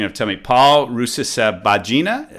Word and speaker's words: Rusesabagina: You're gonna have to tell me Paul Rusesabagina. How do you say his last name? Very, very close. Rusesabagina.